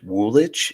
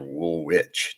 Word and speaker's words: Woolwich: Woolwich? Is it Woolwich or Woolwich? Do I pronounce the W there?